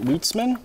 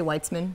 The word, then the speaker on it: Weitzman: Oh, Stuart Weitzman? Is that how you say it? Weitzman? I say Weitzman.